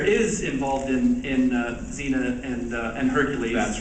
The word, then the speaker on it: Xena: players in New Zealand who said pronounce zena zener and then they would have people like myself here in Los Angeles go in and replace all their dialogue um without the New Zealand accent.